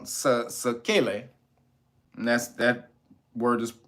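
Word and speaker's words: sequelae: recovered or recovering uh recovered with something called sakele and that's that word is spelled s-e-q-u-e-l-a-e and that means what a left-over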